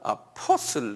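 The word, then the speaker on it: apostle: 그 영어로는 아포슬, 액센트가 아포슬 그래서 포에 있어요.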